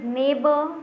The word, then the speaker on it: neighbor: Next is neighbor, daughter, fight, straight. So neighbor, daughter, fight, straight. What is silent in neighbor? So you will see GH is silent.